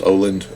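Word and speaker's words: Åland: just like choose here here's a a aland Islands or whatever um I think actually that's pronounced Oland Islands I think I learned that anyways let's just like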